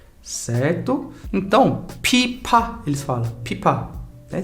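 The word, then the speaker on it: 피파: Eles falam pipa. Por quê? Porque não existe FVZ, certo? O F grande das maioria das vezes, ele é escrito com pia, que é o mais parecido com F, certo? Então, pipa, eles falam pipa, né?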